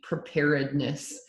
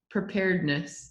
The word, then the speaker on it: preparedness: level one and like preparedness it's such a hard word well you just said it wrong preparedness yeah preparedness not that way so it's not right